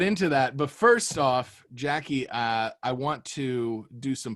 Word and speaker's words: Jacy: And then my Instagram is Jackie D. So a little unconventional. It's a JACYD. It's a hard C.